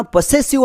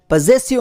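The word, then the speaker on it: possessive: ಐ ವಿ ಈ ಪದವನ್ನು ತುಂಬಾ ಜನ ಪೊಸೆಸಿವ್ ಅಂತ ಉಚ್ಚಾರಣೆ ಮಾಡ್ತಾರೆ ಬಟ್ ಇದು ತಪ್ಪು ಉಚ್ಚಾರಣೆ ಆಗುತ್ತೆ ಈ ಪದದ ಸರಿಯಾದ ಉಚ್ಚಾರಣೆ ಪೊಸೆಸಿವ್ ಅಂತ ಬರುತ್ತೆ ಲೆಟರ್ ಎಸ್ ಅನ್ನು ಶಬ್ದ ತಗೊಂತೀವಿ ನೆಕ್ಸ್ಟ್ ವರ್ಡ್ ಪಿ ಓ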